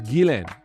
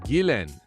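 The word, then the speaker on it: Ghislaine: talking about her and referred to her as gilen and i was like ah that's how you say it gilen and it's the same with virginia duffray who's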